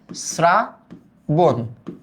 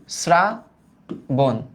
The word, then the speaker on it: শ্রাবণ: এটার উচ্চারণটা কিন্তু আমরা করি শ্রাবণ, শ্রাবণ। বোঝা গেল?